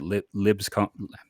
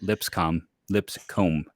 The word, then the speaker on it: Lipscomb: this is a guy who was at Libscomb. Can I say it right? Lipscomb. There you go.